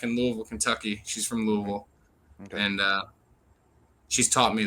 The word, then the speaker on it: Louisville: She's from Louisville. Okay. And she's taught me that it's pronounced Louisville.